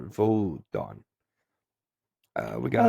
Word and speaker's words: Wotan: The Old High German or Old Saxon is Wotan or Wotan or Wodan. Actually, I think at this time it would be V's for the W's. So Wotan, Wotan, or Vodon.